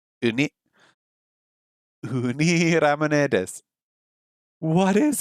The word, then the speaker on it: ウニ: Let me just check out the pronunciation. Hold on a second. Sea urchin. How do we say sea urchin in Japanese? ウニ、 Uni.